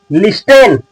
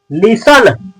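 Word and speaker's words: listen: क्या लिखा गया है लिस्टेन नहीं मेरे दोस्त ये लिस्टेन नहीं है लिसन नहीं लिसन नहीं लिसन ली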